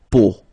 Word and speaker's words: peau: it, but then, so the sound that you will have to pronounce when you've got these three vowels combined together, it's the sound O, okay, so really simple,